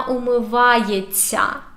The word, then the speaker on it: умивається: Вона умивається. And by the way, pay attention to pronunciation. When we have this ся, we say it like long, soft т.